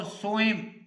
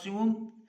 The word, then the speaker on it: سوم: یکم، دوم اور سوئم۔ تو اس کا تلفظ جو ہے وہ ایسے نہیں ہے، بلکہ اس کا صحیح تلفظ ہے یکم ایک کے معنی میں، اور دوم 2 کے معنی میں، اور سوم یعنی کہ 3 کے تیسرے کے